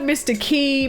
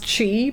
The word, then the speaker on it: Qi: It is technically confirmed to be pronounced Chi because QI is how you pronounce Chi, which is in certain religions like the essence of the body, like your chi.